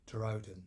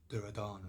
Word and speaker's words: Duryodhan: Right, so now I was talking about basically the 100 strong brothers or the gurus, and the head of them being Duryodhan, not Duryodhana as I call him.